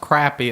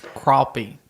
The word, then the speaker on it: crappie: this fishing stor yeah it's pron it's not pronounced crappy it's crappy okay I didn't know that what's crappie it's